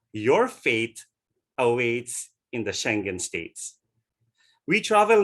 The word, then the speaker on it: Schengen: It is spelled as Schengen, pronounced as Schengen, or others say Schengen.